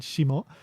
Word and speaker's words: 下: Can also be read shita, but in this case, it's read shimo.